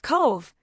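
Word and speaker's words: Cobh: Cove, the Titanic's last port of call, pronounced Cove, this harbor town in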